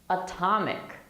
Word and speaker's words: atomic: of the atomic age atomic atomic is a word where the t is in the stressed syllable okay that's why we